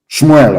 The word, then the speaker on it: Shmuel: me tell you what samuel said shmuel of course correct pronunciation as your sword has